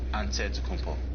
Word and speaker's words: Antetokounmpo: giannis yanazantakumbo's last name he helped set the record straight of how you pronounce it way you gotta say with the d so it's a dead compound but in the greek way you say with the nt like antetokounmpo whatever you got just say